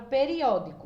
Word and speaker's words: periódico: Lembrando que a sílaba que tiver acento, agudo, circunflexo ou tio, sempre vai ser a sílaba mais forte. Então, o O vai ficar sozinho e periódico, ele vai ser o mais forte. Então, ele vai ser a sílaba tônica.